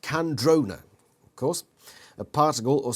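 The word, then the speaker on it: Kandrona: have invested the species candrona pronounced candrona of course a particle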